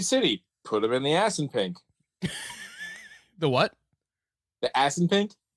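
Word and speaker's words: Assunpink: in pink yeah and it's spelled as s s u n p i n k as un pink oh God damn it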